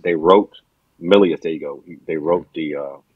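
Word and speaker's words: Milius: I think it was a Howard Sackler and I think John Millison. I hope I'm pronouncing his name. John Millius. They wrote Millius.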